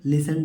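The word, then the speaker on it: listen: लिसन लिसन माने सुनना इसमें बच टी साइलेंट है इसमें टी साइलेंट टी की आवाज को साउंड को नहीं पढ़ेंगे लिसन डायरेक्ट पढ़ेंगे टी को हम नहीं पढ़ते लेक लेक माने बच्चों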